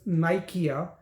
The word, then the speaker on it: Nikea: I've also put up this case IKEA versus Nikea, and as you can read from that case study, again, when you're looking at trademarks, you also have to see Nikea would be Nike-a. Yeah, so it's 3 syllables.